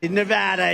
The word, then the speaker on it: Nevada: and you always have to say it correctly Nevada you got to call it you've got to